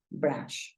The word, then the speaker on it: brush: para peinarnos entonces mira Brush Acuérdate que la u la estamos pronunciando como una a Entonces si tú dices